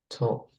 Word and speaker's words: talk: You don't pronounce the letter L in talk.